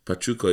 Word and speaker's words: Pachuca: I got Pachuca. Yeah. Am I saying it right? I'll give you that one. Pachuca, yeah.